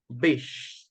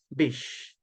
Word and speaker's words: beach: Just please, Fernando, remember to pronounce playa in English like a long sound. Bish. Okay? Bish.